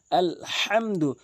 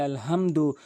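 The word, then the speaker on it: الحمد: বড় হাচ্ছে হলকের মাঝখান থেকে চাপ দিয়ে ভর দিয়ে শক্তি দিয়ে উচ্চারণ করতে হয়। যেমন আলহামদু। আর অধিকাংশ লোক বলে আলহামদু।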